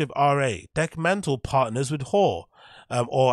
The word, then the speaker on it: HÖR: Okay, how you pronounce it? HÖR. HÖR.